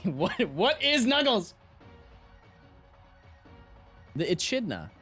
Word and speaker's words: echidna: what what he is echidna what is Knuckles movie character that doesn't help me what what is Knuckles the Echidna echidna e-c-h-i-d-n-a right enchilada pronounce this k no ch next time I say